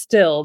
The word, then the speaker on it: Styll: on it's just pronounced still the Y is like an i okay okay that's that's